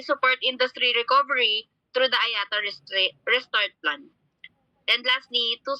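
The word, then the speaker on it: IATA: organization is the international air transport association or ayata so the the right pronunciation of this um acronym is Ayata ayata was established in 1945 by 57 international airlines by 2020.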